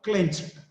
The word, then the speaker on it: clenched: After ch, after if the last sound is ch, the ed is pronounced as t, clenched. He clenched his fist and closing all the fingers together, it's called fist.